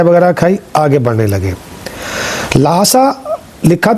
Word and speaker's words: Lhasa: लासा लिखा था लासा में आपका स्वागत है। लासा एक तिब्बती उच्चारण ला सा है जिसका अर्थ होता है ईश्वर का घर।